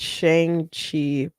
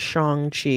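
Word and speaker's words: Shang-Chi: who did Shang chi I think they want you to pronounce it Shang Chi and I'm like I'm not saying that because it's silly Jim Starin who I've met Jim Starin Jim Starin made um that character and he pronounced it as Shang Chi and that's how people pronouncing it forever but they made it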